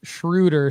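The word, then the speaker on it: Dennis Schröder: And Tim Larson says it's pronounced Schroeder.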